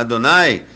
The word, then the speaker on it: Adonai: aplica senhor Lord não é então é podemos pronunciar este termo deste termo né a Adonai Adonai Adonai Claro Claro no que se aplica